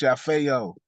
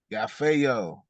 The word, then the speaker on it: Yafeuh: It's pronounced Yafeuh. Yafeuh. Yafeuh. I know that's kind of hard for some of y'all to pronounce, but it's Yafeuh.